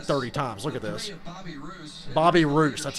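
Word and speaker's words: Bobby Reuse: Bobby Roos, that's how you say his name.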